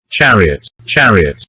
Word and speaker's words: chariot: Chariot, the ch here is pronounced ch. Look at the symbol here. This one is sh, and you have ch.